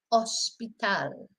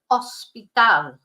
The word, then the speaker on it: hospital: so we've got oel hospital then the next one those two obvious what they mean they mean what they look like they mean h don't forget not to pronounce the h though again if you that's